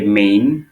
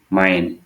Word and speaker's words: mane: এই মাইন শব্দটা অনেকে মেইন বা মানে এই ধরনের উচ্চারণ করতে পারো, তবে আসল উচ্চারণটা হবে হচ্ছে মাইন মাইন বা অনেকটা মেইনের মতোই, ঠিক আছে।